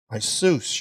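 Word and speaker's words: Ἰησοῦς: made known to us through i seuss your servant that's the greek pronunciation to you be the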